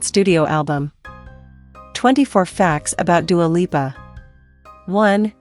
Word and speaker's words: Dua Lipa: album 24 facts about dualipa one dua lipa isn't a stage name yep dua lipa is the name she was born with it's pronounced doer leaper she says she didn't